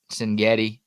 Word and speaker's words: Cignetti: Yeah, I know Curtis Rourke has looked good, and Kurt Cignetti. There it is how you pronounce his name.